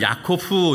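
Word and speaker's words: יעקב: 야곱이 형에서의 발꿈치를 딱 붙잡고 움켜지고 나왔어요.이 히브리어를 읽으면 야코후 이렇게 발음을 하는데이 단어는 어떤 뜻이 있냐면 움켜지는 자 빼앗는 자 속이는 자 어때요?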